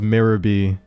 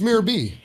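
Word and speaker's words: Miror B.: pronounce this guy's name I always thought it was mirie it's mirror B it's nothing it's not spell mirror though yeah but it's they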